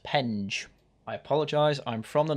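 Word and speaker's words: Penge: conon is selected for the new Beckham and Pang constituency in the southeast of capital before I get all the comments saying oh that's not how you pronounce it yes I did just check it's actually pronounced pen I apologize I'm from the north and I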